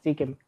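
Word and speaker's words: Seachem: Sí, hay muchas marcas, pero la premium, la que todos tienen así al tope, se llama Sikem. Se escribe CHM, por si lo quieren buscar.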